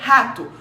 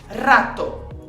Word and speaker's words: rato: A pronúncia correta seria rato. Rato. É um R mais vibrado.